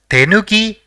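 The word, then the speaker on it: てぬき: The first character in the word is te, the second is nu, and the third is ki. So, it will be pronounced as tenuki, which means to cut corners or to omit crucial steps.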